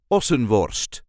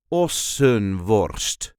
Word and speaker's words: Ossenworst: This is the way we say Ossenworst. Ossenworst. There is a light emphasis on the first syllable. Ossenworst.